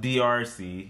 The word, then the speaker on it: DRC: So, it's pronounced DRC. It's, DRC. Yeah, if you think, like, the letter D, the letter R, and the letter C, if you put them together, it's like that.